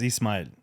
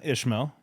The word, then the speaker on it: Ismail: So my name is Ismail. Yep. Got butchered as a kid. So it turned into Ishmael. Yep. Still spelled with no H. Gets butchered because there's no H.